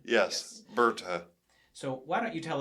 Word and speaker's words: Berta: Berta is the correct pronunciation. Yes, Berta.